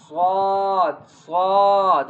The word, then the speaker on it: ص: So, look at the letter name. S U A D. Sw it is both. Okay. Swath swad. Okay. Press tongues on sides. Okay. Press tongs on side and then say swad swad.